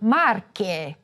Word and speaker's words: Marche: Sometimes "e"s or "o"s will be open or closed: a closed "e" in Veneto and an open "e" for Marche for example.